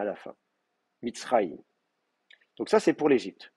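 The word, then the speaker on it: מצרים: Et donc, de la même manière, ici, dans Mitzrayim, l'accent va rester là, Mitzrayim.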